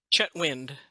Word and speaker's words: Chetwynd: how do you say your last name chatwi chatwi okay so Char Charlie black and and chetwin are part of the trooper black Foundation I'm